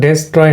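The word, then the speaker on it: destroy: তো এখানে থাকলে কি হবে, এখানে যদি থাকে তাহলে তো এটা এ উচ্চারণ হবে, তাহলে হবে ডেস্ট্রয়, কিন্তু এখানে তো ডেস্ট্রয় না, এটা হবে হলো আপনার, এটা যদি আমরা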